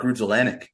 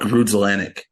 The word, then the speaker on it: Grudzielanek: It is Mark Grudzielanek.